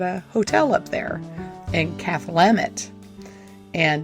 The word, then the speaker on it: Cathlamet: I have 2 sons who are working at a hotel up there in Cathlamet, and that's how you say it. It's like Cathlamet, Washington.